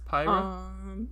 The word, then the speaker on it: Pyra: You want to pronounce her name for me? Pyra? Yeah, Pyra.